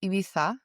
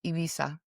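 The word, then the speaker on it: Ibiza: Well, if you're from Spain, you say ibisa. But if you're from Latin America, we just say ibisa.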